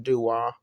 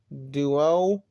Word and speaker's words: Dua: Basically, it sounds like I'm taking the T off of the Pokemon named Duat. Well, Duo? No. Dua? Yeah. Just taking. If you want to know how to spell it, just look up the Pokemon name Duant and then take off the T.